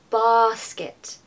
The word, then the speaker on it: basket: an a sound arm basket now don't be afraid to take a little bit longer on this sound because you really need just a bit of time to make it baset basket I'm sure you're all